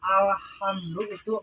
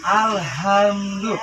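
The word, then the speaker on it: الحمد لله: mendengar dari kalimat pertama Alhamdulillah masih ada yang mengucapkan pakai h besar Alhamdulillah senyum pengucapannya harus agak tipis juga alhamdulillah artinya segala puja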